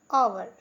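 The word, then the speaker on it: hour: होता है ईमानदार नेक्स्ट आवर देखिए एस से शुरू हुआ लेकिन फिर भी हम आवर पढ़ते हैं क्योंकि एस साइलेंट है हिंदी मतलब घंटा होता है घंटा दो समय वाला होता है।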